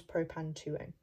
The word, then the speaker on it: propan-2-one: at the end, spelled like one, but it's pronounced one. So this becomes propan-2-one.